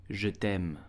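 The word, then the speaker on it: je t'aime: you will simply say je Tem Je damn please do not pronounce the e at the end and do not say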